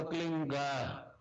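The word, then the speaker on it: क्लीं: ही मात्रा और बिंदी, उसका उच्चारण होगा क्लीन गा। गा की ध्वनि निकलेगी पीछे।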